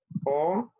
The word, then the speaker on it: aux: Entonces serían 4 preposiciones, a, an, o y esta o con X que sería plural. A para las ciudades, an países femeninos, o AU sería para los países masculinos y AUX que se pronuncia O sería para los países plurales.